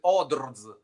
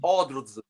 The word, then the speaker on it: ODRZ: The name of the band is ODRZ. Oh, okay. Just pronounce ODRZ.